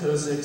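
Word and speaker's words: Kozicz: It's K-O-Z-I-C-Z, and it's pronounced Kosich, so maybe next year when I decide to come back, we can start with that.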